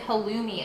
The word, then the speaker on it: halloumi: Everyone's saying, isn't it halloumi?